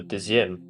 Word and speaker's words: Deuxième: Oh, Deuxième.